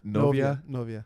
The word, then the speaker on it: novia: Novia.